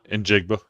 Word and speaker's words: Njigba: I've never been able to pronounce that. Njigba.